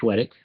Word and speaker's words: Chwedyk: And our guest speaker tonight is Chwedyk. I believe I'm pronouncing that correctly.